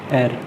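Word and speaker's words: heir: एर, इसको हेयर नहीं बोलते, इसको एर बोलते हैं। एच को साइलेंट सा कर दो, एर।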